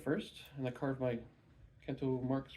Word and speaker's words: Kento: doing multiple color so Kento it rhymes with Bento that's all I remember